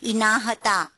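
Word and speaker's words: INAHTA: The agency which they pronounce as INAHATA, which is International Association of Health Technology Agencies, which is like a combination of a different HTA.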